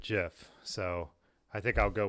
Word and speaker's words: GIF: caption on that well the guy who invented the gif pronounces it jiff so i think i'll